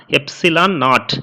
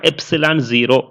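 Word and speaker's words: epsilon naught: இதை எப்படி ப்ரொனவுன்ஸ் பண்ணுவாங்கன்னா எப்சிலான் நாட் இல்லைனா எப்சிலான் 0.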